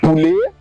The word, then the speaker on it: poulet: Words ending with ET are also pronounced as A, like poulet.